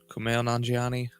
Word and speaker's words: Kumail Nanjiani: I don't know exactly how to pronounce that. Do you? Kumail Nanjiani.